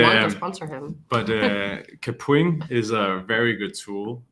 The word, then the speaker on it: Kapwing: But Kapwing is a very good tool, and you might also say it as Kapwing. That's how I used to say it, but they're Canadian, and I met with someone and they said Kapwing, and I had been saying it wrong my entire life.